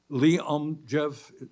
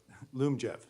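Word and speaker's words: Lyumjev: insulin so that means oh I may be mispronouncing it Liam Jeff how do you pronounce that Loom Jeff Zoom job wasn't close all right that's going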